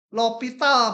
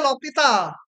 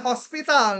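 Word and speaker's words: L'Hôpital: ditambah ada aturan l ini lopital bacanya lopital ada yang nulisnya pakai OS Hospital gitu nggak itu juga resmi tapi on-nya pakai titik dua gitu yang bahasa Jerman Tapi bacanya lovital jangan Hospital Nanti pada mampus UTS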